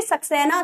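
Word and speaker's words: Saxon: section क्या बनती है सेक्शन नहीं बोलेंगे सक्सेना सेक्शन है ये ठीक है बहुत बच्चे गलत स्पेलिंग बोलते हैं इसीलिए मैं आपको साफ साफ-साफ बता रही हूं टी नहीं है ये एस है क्योंकि फिर आप स्पेलिंग गड़बड़ कर दोगे इसको आप एंग्लो बोलो एंग्लो सेक्सन एंड ज्यूट्स लिख लीजिए फटाफट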